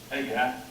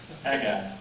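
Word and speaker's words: Haggai: H, J, It's pronounced like. Hey, guy. hi. Hey, guy.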